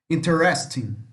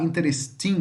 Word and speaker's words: interesting: som de NH tá esse G final não pronuncia tá nós falamos ele hagaque leem tá iate eating não falo G interest in interest in tá preste atenção a pronúncia se você falar interesting está errado é interest in interest